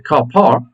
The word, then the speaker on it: car park: Well, actually, don't pronounce the R. They say car park.